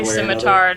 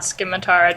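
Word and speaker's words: scimitar: are constantly getting mispronounced that's definitely simitar not skar don't absolutely simitar there is no question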